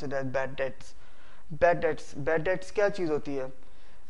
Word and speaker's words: bad debts: is bad debts we don't uh say it bad debts we pronounce it as bad debts bad that's bad that's catchy uh for example